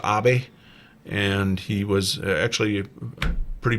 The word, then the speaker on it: Abe: I believe it's pronounced Abe, and he was actually pretty pro-American.